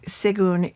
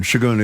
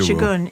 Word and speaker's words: Segun: date with a bigwig, Segun Idowu, if I pronounce it correctly. Shagun Idowu. Shagun Idowu. Sorry for my mispronunciation.